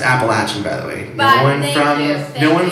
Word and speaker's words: Appalachia: won't get into that there like a whole Appalachian history it's pronounced Appalachian by the way no one from no one